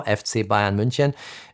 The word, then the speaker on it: FC Bayern München: I pronounce it in German now, FC Bayern München.